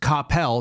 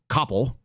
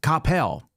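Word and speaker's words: Coppell: Here's Capel, which is pronounced Capel, not Cppel, as I found out when I moved there as a child in '91.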